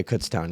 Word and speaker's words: Kutztown: was like year over in I'm over in Kutztown yeah Kutztown yeah that's how you pronounce it okay yeah so which is which